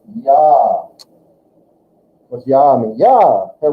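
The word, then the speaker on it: ja: I, J makes a Y sound. You've already been telling me this word. Ya.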